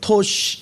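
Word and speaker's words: taş: 일이라고 이제 IL 이렇게 우리 한글로는 일인데 터키어로는 이쉬 이렇게 되고 우리가 돌인데 터키어로는 토시 이렇게 돼요. 그래서 L이라는 요 발음이 터키에서는 SH로 바뀌어진다는 걸 얘기를 해요.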